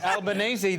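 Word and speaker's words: Albanese: flang names y Anthony I believe you pronounce it albanesi the new Australian prime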